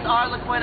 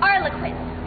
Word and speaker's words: Arlequin: You pronounced it Arlequin, when it is obviously and indubitably Arlequin. Yes.